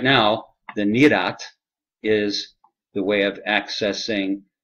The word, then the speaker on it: nirat: Nirat is spelled N-I-R-A-T. Nirat, as it's pronounced, nirat, N-I-R-A-T, is, if there